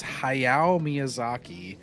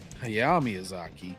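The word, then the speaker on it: Hayao Miyazaki: It's Haya Miyazaki. It's not Hayyazaki.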